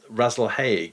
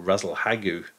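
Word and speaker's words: Rasalhague: coffin asterism sits um razzle hague or razzle hague however you want to pronounce it which is alpha of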